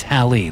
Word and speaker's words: Hallie: It's Hallie like it rhymes with valley.